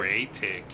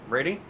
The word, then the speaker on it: Raytig: Say it slowly. Right take. Raytig. Raytig. All right. Rating? Nope. Raytig. And I go over and I give him the biggest dog hug ever.